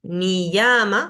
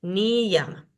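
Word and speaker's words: niyama: Acá está la pronunciación la ya en el interior de una palabra se pronuncia como I como en ni llama acá vemos la palabra escrita ni llama y acá la pronunciación ni llama tenemos acá vidia también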